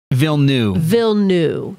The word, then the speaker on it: Villeneuve: we actually looked up the correct way to pronounce his name before we started this video, didn't we? Not? And it is Denis Villeneuve. Yes, we were. Denis Villeneuve.